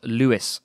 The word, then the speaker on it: Louis: name wrong or at least I am is pronounced Brenda Louis Stevenson no Robert Louis Stevenson he changed the spelling to ello you